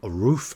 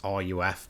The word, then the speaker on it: RUF: Up next, we have Haycord, who's got this amazing 1991 Roof RCT. I'm pretty sure that's how you pronounce it. Maybe it's RUF, but I'm pretty sure it's Roof.